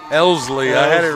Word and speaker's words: Elsley: Now batting, senior number 3, Rayleigh Elsley. Elsley, I had it right the first time. I was mispronouncing it, but so Elsley takes a first pitch ball to open the at bat.